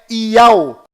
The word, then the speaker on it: Iau: Você mesmo pode conferir o que estou lhe mostrando e verá que a pronúncia correta lá em Israel é Iau.